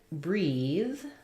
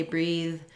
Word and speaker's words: breathe: voiceless th instead so they may be trying to say breathe and it sounds a little like breathe or smooth might sound like smooth but otherwise it's mostly